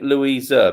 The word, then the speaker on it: Louisa: girl called louisa and i'm saying louisa because it rhymes with people pleaser so there once was